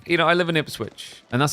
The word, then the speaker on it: Ipswich: It's like, you know, I live in Ipsswitch and that's how we pronounce it. But there's actually a city in Australia called Ipswich as well. If they called it IP switch, I don't care.